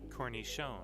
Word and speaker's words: cornichon: I'm going to look up each one of these because I actually have no idea how to say or pronounce these. Here, ready? Cornichon.